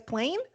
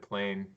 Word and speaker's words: Plein Air: to stop and say is this how we're pronouncing Plein Air okay it's plain okay I mean we've always said plane but okay you've been